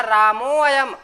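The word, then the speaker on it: रामोऽयम्: कहते हैं, ये सिर्फ पहचान के लिए होता है। यहाँ रामोयम इसको पढ़ा जाएगा, रामोयम, अयम नहीं पढ़ा जाएगा इसको, रामोयम।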